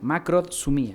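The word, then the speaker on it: makrothymia: es makro su mía se escribe con k y se acentúa en la macro con de dedo sumía macrosomía esa es una y la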